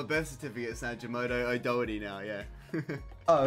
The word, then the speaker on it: O'Doherty: the time, like Doherty, how do you say your second name? O'Doherty. So like... O'Doherty? Yeah, O'Doherty, not like the Doherty part.